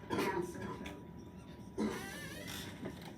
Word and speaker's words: asymptote: it is a vertical asymptote. By the way, when you say the word asymptote, even though there's a P in the word, we don't pronounce it, it's silent, asymptote.